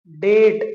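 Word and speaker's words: debt: गेट इन टू डेट इसको क्या पढ़ेंगे डेट याद रखिएगा बी इज a silent letter where did य फाइंड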